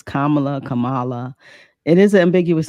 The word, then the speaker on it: Kamala: kind of you know say it correctly it's Kamala Kamala it is an ambiguous name so I